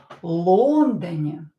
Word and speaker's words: Лондоне: Stress the first syllable here. This is a very common mistake that my students sometimes make, especially when they didn't start learning Russian with me. They learned to pronounce the words incorrectly with the wrong stress. So here, Лондоне, the first syllable is stressed.